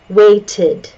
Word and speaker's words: waited: Waited, waited, waited. It sounds like tid, tid, not ted. Waited, waited.